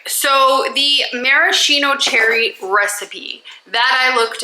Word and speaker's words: maraschino: I don't normally like the maraschino, that is how you say it.